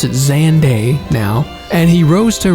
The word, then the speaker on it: Xande: great emperor xande yeah I finally realized they pronounce it xande now and he rose to ranks to become